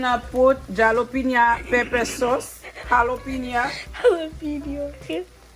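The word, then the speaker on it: jalapeño: put jalapeno pepper sauce jalapeno video okay jalapeno sauce the j is silent mother i do not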